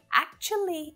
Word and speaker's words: actually: with four syllables that actually is way easier with three right as long as you can make that ch sound easily if it's a little tricky for you you might prefer to keep four syllables actually actually actually i